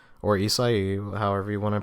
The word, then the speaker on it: Isahi: My name's Isahi, or Isahi, however you want to pronounce it. People usually pronounce it Isahi because it's a little easier, and it's kind of like the Asian beer Asahi, but just Isahi, So that's my name.